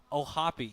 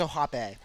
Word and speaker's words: O'Hoppe: Okay, this part here, I have no baseball analysis whatsoever for O'Hoppe, but what I will say, O'Hoppe, you have to pronounce the E, where with Volpe, you also have to pronounce the E.